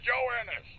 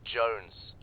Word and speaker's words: Jones: you're taking Wow private Jonas Jonas are you sir for the millionth time my name is pronounced Jones Oh Joan shut up join